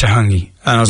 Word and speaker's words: hangi: Um, and it was food related and I was like, "What's the oven called when you cook a hanky?"